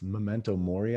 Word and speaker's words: memento mori: is the how do you say it it's memento mori i believe meditating on your own death when